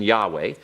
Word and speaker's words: Yahweh: way so we can see it the proper pronunciation Yahweh so we have a syllable we have syllable